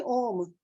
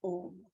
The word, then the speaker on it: Om: in a form of om it is made up of three sounds it's like when we look at it phonetically it's like a a like ah then it's like a U and then m but then between the